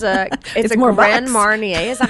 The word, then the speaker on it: Marnier: Marnier.